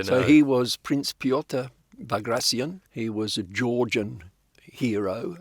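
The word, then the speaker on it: Bagration: Ukraine and in Belarus and they all said vagracion really yeah and I said is that how you pronounce it and they were absolutely convinced yes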